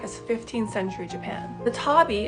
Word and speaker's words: tabi: 15th century Japan the Tabby as it's pronounced in Japanese was a type of